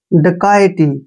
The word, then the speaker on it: dacoity: Next word DACOITY, देखिए इसको कैसे पढ़ेंगे, DA का उच्चारण यहाँ पर हम डे करेंगे, ठीक है ना, और CO को हमने यहाँ पर का पढ़ना है, का, ऐसे का, और I का उच्चारण यहाँ ये के रूप में करेंगे और TY को टी पढ़ेंगे, ऐसे। डकैती, क्या पढ़ना है इसको,